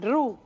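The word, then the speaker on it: roux: utilizan eh algo que se llama el ru que es se escribe r o u x que es una mezcla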